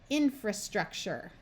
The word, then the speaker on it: infrastructure: hard to say and often in English sounds more like chur with a CH sound when people pronounce it